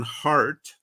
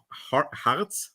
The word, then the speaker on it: Harz: And the pronunciation "heart" is actually what it means in the mountains of Harz.